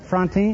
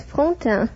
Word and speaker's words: Fonta: Miss uh Fronti. Is that right? Am I pronouncing your name correctly? Not very correctly. It is Fonta.